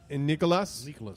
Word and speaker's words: Nicolas: Isabella, and Nicolas. Nicolas. The S is silent. Nicolas. Nicola.